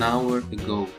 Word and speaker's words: hour: Lalu di bawahnya karena h tidak diucapkan, disebut dengan silent letter dalam bahasa Inggris. Saya mengatakan an hour ago, ya, sejam yang lalu.